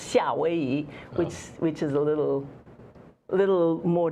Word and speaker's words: 夏威夷: Well, no, it's the same characters, but it's pronounced 夏威夷, which is a little more distanced from the sound of Okay.